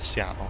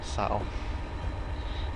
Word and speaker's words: Settle: Seattle, what was I on? Settle.